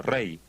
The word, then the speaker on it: Ra: principal un Dios principal que era ra a veces se pronunciaba Rey el Dios sol era